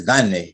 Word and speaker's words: gane: So it's gane. It's the accent on the first syllable.